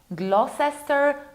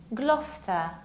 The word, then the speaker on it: Gloucester: It's not Gloucester, Gloucester, Gloucester. No, forget about it. Remember about our rule. You skip middle CE, so you pronounce it like Gloucester, Gloucester.